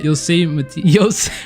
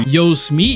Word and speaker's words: Yosemite: and it's actually pronounced Yosemite. Bro, I already forgot how to say it, bro. Yosemite. There we go. And yeah, it honestly sounds much cooler. Yosemite sounds like someone saying Yo Smeet, you know what I mean?